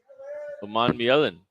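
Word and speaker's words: Umanmielen: Uman Mielin.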